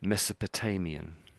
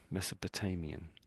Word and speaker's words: Mesopotamian: Um I think we say it slightly differently to you though. So I would say this is Mesopotamian. Mesopotamian.